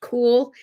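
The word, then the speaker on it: Kuehl: remember sheila i think her last name was pronounced cool but it was spelled like k-h-e-u-l or something like that in the old dobie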